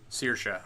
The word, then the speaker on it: Saoirse: It looks like how Siobhan is spelled. Saoirse? Yeah, okay. I figured it was something like that. You win 10 internet points, Johnny. Saoirse, okay.